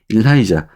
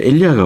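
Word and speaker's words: Elijah: 일라이자, the prophet이라고 선지자 엘리야라고 합니다. 자, 엘리야가 옳은 발음이죠.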